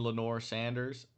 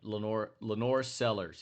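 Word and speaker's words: LaNorris Sellers: nation right now in Lenore Sanders. I believe, or Lenore Sellers, I believe. That's how you say his name. Yeah, Lenore Sellers.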